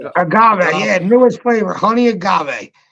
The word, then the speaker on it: agave: you say that a got what was that Agave Agave yeah newest flavor honey Agave all right and